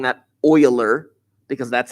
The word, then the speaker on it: Euler: path or an euler circuit and yes i'm pronouncing that euler because that's how it's pronounced if you were